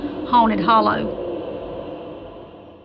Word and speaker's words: Haunted Holler: My mom was raised in a place in Georgia called Haunted Holler, which the correct pronunciation would be Haunted Hollow.